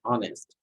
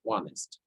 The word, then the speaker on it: honest: further because can't and to be honest not honest it will be honest the a sound will